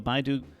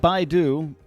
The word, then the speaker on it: BeiDou: an announcement on the Beidou... It's beidou. Shoot, beidou. It's not Baidu. It's beidou. Sorry. This whole article, I've been saying Baidu. It's not Baidu, the search engine.